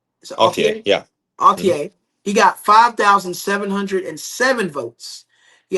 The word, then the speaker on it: Altier: Altier.